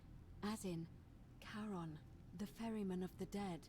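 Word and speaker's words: Charon: figure with a coin as you described it pronunciation is a little off the name you heard wasn't Karen it was c h a r o n as in Caron the ferryman of the Dead yeah there we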